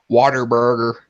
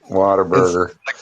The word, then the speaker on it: Whataburger: said water burger Whataburger everybody goes water burger Whataburger but the one I